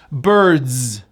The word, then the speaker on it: birds: Birds, spelled with an S, pronounced as a Z. Birds.